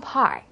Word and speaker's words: Park: 강세가 본인의 이름보다는 성 부분에 좀 들어갈 수 있도록 따라서 I am 은경 Park 이게 아니라 I am 은경 Park 이렇게 박도 영어식으로 Park 이렇게 발음하시는 게 좋겠습니다.